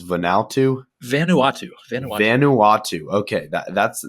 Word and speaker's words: Vanuatu: correct me if i'm wrong it's vanal too vanuatu vanuatu vanuatu okay that that's that's the name